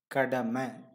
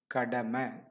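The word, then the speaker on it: கடமை: let us see the first one is kadhai my meaning duty and Kadam Iying that's how it's written but when you say that it is Kodama it is Kodama the next one is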